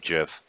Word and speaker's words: GIF: GIF is pronounced with a J.